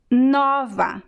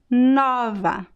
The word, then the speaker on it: nova: feminine word of novo it's nova with an open sound novo masculine nova feminine so you see there is